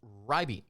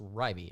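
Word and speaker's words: Reibe: that would be Eric, I believe it's Rybee is how you pronounce his name, R-E-I-B-E. It's not Reby, it's Rybee, if I'm not mistaken.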